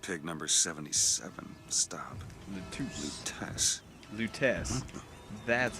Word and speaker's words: Lutece: Lutece.